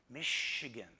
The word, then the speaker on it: Michigan: I then have to correct them it's pronounced Michigan I say this sometimes adding that the spelling came from the early French trappers and explorers who beat the British to the Upper Midwest it's hard to stop